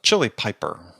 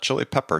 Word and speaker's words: Chili Piper: co-founder and president of chili Piper not chili pepper chili Piper just people don't think